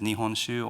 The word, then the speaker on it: nihonshu: So sake was a way of making it easier for foreign people to pronounce the word. Sake in Japan is nihonshu or seishu, which is more difficult, obviously, for us to pronounce.